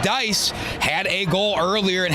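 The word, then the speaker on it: Deiss: Brody Dice, d e i s s pronounced Dice, had a goal earlier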